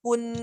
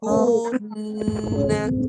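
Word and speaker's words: كُنَّا: Kun salah. Bunyi kat mulut dulu. Kunna. Baru jalan baru dia jalan. Ini bersama. Kunna. Cuba. Okey, itulah dia cara baca yang betul mengikut lagi Arab.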